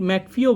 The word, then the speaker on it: McAfee: তো কোন software developer সম্প্রতি মারা গিয়েছেন যিনি ম্যাকঅ্যাফি অ্যান্টিভাইরাসটা তৈরি করেছিলেন, ক্রিয়েটার অফ ম্যাকঅ্যাফি অ্যান্টিভাইরাস? তো ম্যাকঅ্যাফি অ্যান্টিভাইরাস বানিয়েছিলেন অপশান ডি, জন ডেভিড ম্যাকফিও বলা হয়, অনেক সময় উচ্চারণটা ম্যাকফিও বলা হয়।